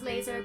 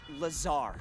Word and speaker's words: Lazar: blazer rangers this is laser glazer a researcher in our rmd department and its sales liaison it's lazar actually accent on the tsar but yes i'm your